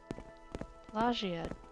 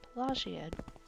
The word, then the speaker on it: Pelagiad: Plagiad. Okay. Well, that solves the problem of how to pronounce it. Plagiad.